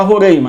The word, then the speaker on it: Roraima: estado de rima certo eu falo Roraima metade do Brasil Fala Roraima né aí vai aparecer algum já ser um cretino falando que não é Roraima é Roraima né são pronúncias ambas aceitas meu amigo is tudo